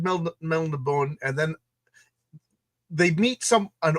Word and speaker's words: Melniboné: I think it's Melniboné. Melniboneans. Pronounce it like a French person. Right. I always said Melnibone, and then they meet